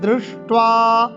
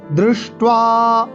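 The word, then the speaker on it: দৃষ্ট্বা: অথ ব্যবস্থিতান দৃष्ट्वा দয়রি মধ্যাহ্নস টয় ওয় আকার। এই যে মূর্ধা স আর ট দুটি মূর্ধাবর্ণ জীবকে আমরা উল্টে উচ্চারণ করব। দৃष्ट्वा, অথ ব্যবস্থিতান দৃष्ट्वा ধার্তরাষ্ট্রান কপিধ্বজः।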